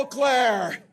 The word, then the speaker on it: Eau Claire: wow wow hello o Clair isn't it good to have a candidate who can pronounce the name correctly so there wow Les